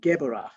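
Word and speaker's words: Geburah: r a h but a b in the middle of the word is pronounced v so it's gebra from geborah we travel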